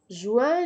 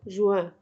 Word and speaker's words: juin: جوان، جويي، جوان، جويي.